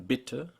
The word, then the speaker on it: Bitte: And last, we dealt with vowel length, and how German vowels are short when they come before 2 or more consonants, like in Bitte, Hölle, and Docht, and that you pronounce